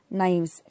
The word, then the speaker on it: knives: also bad and here knives k is silent it's it is not